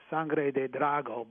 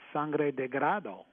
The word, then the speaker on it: Sangre de Drago: It's actually, Spanish is Sangre de Drago, blood of the dragon. Sounds like a wine. Yeah, right. But the Indians couldn't pronounce, so they couldn't quite pronounce Sangre de Drago, so they pronounce it Sangre de Grado.